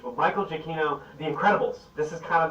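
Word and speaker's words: Giacchino: i mean certainly uh michael jacquino jaquino i think that's the correct pronunciation but michael jacquino the incredibles this is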